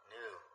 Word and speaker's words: Nu: The closest pronunciation is Nu.